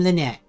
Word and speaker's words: Lynette: I am Lynette, like the birds, you know, but it's spelled differently.